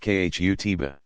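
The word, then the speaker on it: khutbah: sermons like you an address called the khutba pronounced khu tiba is a standard feature of every friday congregational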